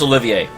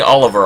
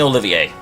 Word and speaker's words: Olivier: No, his name is pronounced Olivier. Don't even care. I've been around the block a few times, but I've never seen anything like that. I'm not saying Oliver, I'm saying Olivier.